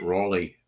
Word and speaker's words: Raleigh: of North Carolina called Raleigh I'm trying to get the pronunciation right we call call it Raley back in New York uh now the Raley